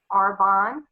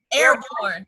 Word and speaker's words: Arbonne: all right and the name of that again is arbonne okay oh you know how i was pronouncing it airborne i'm military honey i was like airborne that's that's some stuff